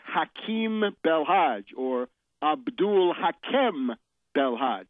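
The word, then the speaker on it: Belhadj: belhaj or Abdul Hakim belhaj it's belhaj uh in French it's b l h AJ and in English it's B LH a DJ he is now the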